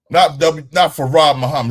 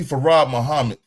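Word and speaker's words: Fard Muhammad: Not Farad Muhammad. It's W.D. Farad Muhammad. If you want to say it right, you say it correctly.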